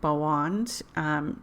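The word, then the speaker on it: Boann: this Celtic goddess named Bo wand it's actually spelled boa and n like Bo am but they that last n is really a D when they pronounce it it's kind of weird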